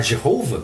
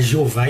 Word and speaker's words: Jeová: Então, portanto, se você preferir falar Yahvé, você pode falar, você não estará errado. Você quer falar Jeová, como os americanos falam? Pode falar também. Você escolhe a pronúncia. O que você não pode fazer é considerar que uma forma está errada e outra não.